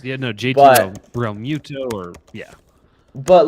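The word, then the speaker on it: Realmuto: they're as not if going to be JT Romulo. Is that how you say his name? The Phillies catcher? God, I don't Real Muto.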